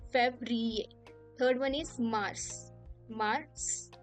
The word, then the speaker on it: Février: How do we pronounce it? Janvier. Then Février. Février.